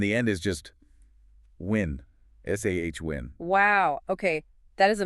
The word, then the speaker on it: Samhain: The M and the H just sort of disappear or change completely. What's happening there? That's right. In the Gaelic language, that specific combination often creates a W or V sound.